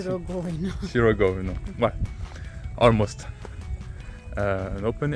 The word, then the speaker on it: Sirogojno: We will start by exploring the breathtaking open-air museum of Sirogojno, where traditional houses have been brought and where we will be learning about life in the past.